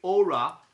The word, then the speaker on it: Aura: uh let's say aura uh the champions it's a very peculiar because it's I know it's always hard when we speak English but it's it's pronounced aura as in Italian but we use